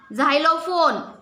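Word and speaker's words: xylophone: म्हणजे examination example आणि कधी कधी नुसत झतो झ म्हणजे Xerox झायलोफोन Xerox झायलो लो फोन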